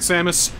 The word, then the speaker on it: Samus: you heard you yeah you said it right Samus o okay well you just blew my mind